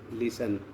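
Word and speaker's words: listen: और यहाँ लिसन, लिसन मन सुनो, ये साइलेंट है।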